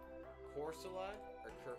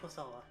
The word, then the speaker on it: Corsola: a bit more nitpicky, but would you say Corsola or Corsola? Yeah, that's one I was kind of debating about as well. I think I say Corsola. Corsola? Yeah. I guess like Corsola is closer to Co.